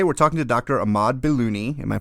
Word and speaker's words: Bailouni: Ahmad Bailouni. Am I pronouncing that correct?